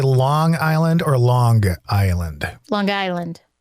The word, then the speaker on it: Long Island: Did you say Long Island or Long Island? Long Island. You say with the hard G at the end.